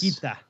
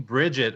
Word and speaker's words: Brigitte: Is or that actually Brigitte. how you say it? Yes. Brigitte. Oh. All these people saying Bridget are not paying attention to Jeff Kaplan.